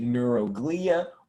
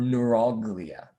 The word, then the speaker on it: neuroglia: your article called neuroglia you could pronounce it neuroglia or neuroglia either way is fine neuroglia is more of like the british derived way of saying that word neuroglia is more of the americanized version a lot of scientific